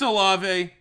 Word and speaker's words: Olave: I'm going to figure out how to pronounce that properly. All right, it's Olave.